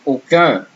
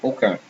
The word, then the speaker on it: aucun: Example, aucun, none. Okay, and you see here, AU, here is O actually, pronounced O, same as O.